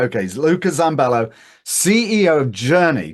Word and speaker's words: Luca Zambello: what you would otherwise Luca zambello am I pronouncing your name correctly no yes yes yes yes I did I got it right okay Luca zambello CEO of Journey j